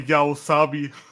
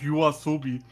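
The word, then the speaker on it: YOASOBI: And even if you not know how to pronounce the Japanese name, but but swapping entire letter is is wrong. Yaoabi instead of Yasobi.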